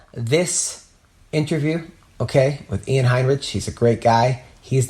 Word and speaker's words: Heinisch: Heinisch?